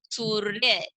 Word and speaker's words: सूर्य: रेफ की मात्रा, और इसका उच्चारण स और य के बीच में किया जाएगा, और जो र की ध्वनि है वो आधी तरीके से ही सुनाई देगी। तो कैसे पढ़ेंगे इसको, सूर्य।